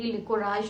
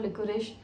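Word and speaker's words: licorice: कहते हैं कुछ लोग, मुलेठी, लिकोराइश और लिकोरिश, ये प्रोनाउंसिएशन डिफरेंट है।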